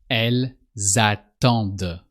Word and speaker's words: elles attendent: With the D, you have to pronounce the D at the end with they. Elles attendent. You also pronounce the S of elle because just after you have a vowel, the A of attendre. So you say elles attendent. You pronounce the S as a Z and as if it was at the beginning of the verb attendre.